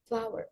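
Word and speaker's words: flour: Cara bacanya flower. Flower.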